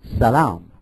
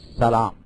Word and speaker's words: salam: they're pronounced different because in the Hebrew dialect, they pronounce some of the sounds like sh, like that. So that's where you get the difference between shalom and salam.